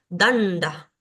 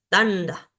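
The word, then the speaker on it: daṇḍa: tenemos acá la palabra danda danda estos puntitos debajo nos nos indican que estas letras son sonidos cerebrales Por ende tengo que llevar la lengua hacia el paladar superior danda es bastón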